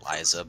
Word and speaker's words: Liza: If Lisa's allowed to keep her secrets, then... We pronounce it Liza, by the way.